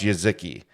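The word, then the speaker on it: Jeżyki: package j e z j e z y k i y k i pronounce yaziki so if you go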